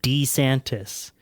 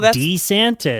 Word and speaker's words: DeSantis: He has been adamantly referring to himself as Ron DeSantis. He pronounces it DeSantis.